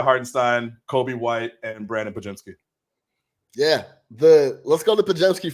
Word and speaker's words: Podziemski: And then my last one, I still don't pronounce his name right ever, but Brandon Podziemski. Yeah, Podziemski. Yeah. Podziemski.